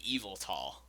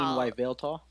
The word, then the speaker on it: Yveltal: It's kind of like Eviltal. It's kind of an awkward name to Well, say. even Eviltal. Don't you mean Yveltal?